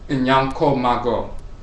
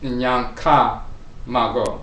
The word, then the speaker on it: Nyankopon: The second child after the twins is called Nyankopong. But sometimes some people pronounce it Nyanka-Mago. So it goes from Nyanko to Nyanka.